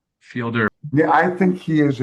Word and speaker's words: Fielder: I think it's Fielder.